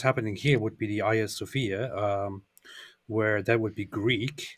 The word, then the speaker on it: Hagia Sophia: is actually I think the most accurate Greek pronunciation would be like it's Hagia Sophia. No, it's Hagia Sophia. It's like no, it's not. They have an H. Yeah, it starts with an A that has an aspirate breathing that makes it an H.